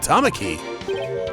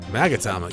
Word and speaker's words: magatama: The Box by opening it without using the mama key wait what did you just say is that what it's called magatama yeah all singing is many times you have